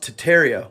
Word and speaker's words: Tartaria: Tartaria, originally pronounced Tartaria without the R, is the name of an empire that was here before the Mongols and originated in northern Asia.